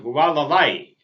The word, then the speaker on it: Hualalai: That eruption of Hualalai is the pronunciation, Hualalai. I had to check several pronunciations to be sure that I at least got it close.